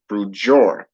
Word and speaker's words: Brujeria: So Brujeria is known as, or pronounced as, Brujor.